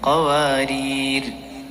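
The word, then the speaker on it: قواريرا: Okay, നിർത്തുമ്പോൾ ആദ്യത്തേൽ അലിഫോടുകൂടെ കാനത്ത് ഖവാരീറ. രണ്ടാമത്തേൽ നിർത്തുകയാണെങ്കിൽ അലിഫ് ഉച്ചാരണത്തിൽ കൊണ്ടുവരാൻ പാടില്ല. ഖവാരീർ. മനസ്സിലായോ?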